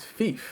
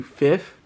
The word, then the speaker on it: Fif: common for english speakers i mean you ever heard of fifa is there anybody who speaks english that can't pronounce that word so if i tell you my name is thief then that's probably how you should refer to me now i would get